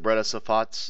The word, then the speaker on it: Breda Safat: Was it how you pronounce it? Breda Safats, is that correct?